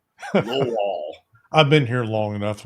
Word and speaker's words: Lowell: And you said it right. You got to roll that Lowell.